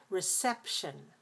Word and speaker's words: reception: So this really changes a lot in the second syllable, from e-sieve to e-sep, reception.